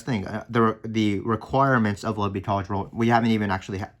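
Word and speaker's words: L'Hôpital: then we would write by l'hopital's rule or l'hospital's if you want to pronounce it funny you write your original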